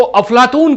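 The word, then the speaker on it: أفلاطون: प्लेटो, यूनानी उच्चारण में उसको प्लाटून कहा जाता है, अरबी में इसको अफलातून कहते हैं।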